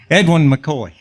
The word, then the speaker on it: Edwin McCoy: Edwin McCoy.